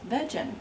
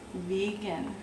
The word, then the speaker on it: vegan: started out i thought how to pronounce vegan was vegen so up north of course i was corrected and said oh no no it's vegan so then i come